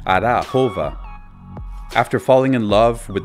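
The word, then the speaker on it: Arachova: On our way to visit the archaeological site of Delphi, we drove through this fairy tale city called Arashova, or closer to the proper pronunciation, Arahova.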